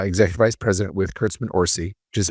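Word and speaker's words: Orci: Because I'll tell you later when I was at DreamWorks, I was uh executive vice president with Curtsman Orsy, which is how you pronounce Bob's last name, right?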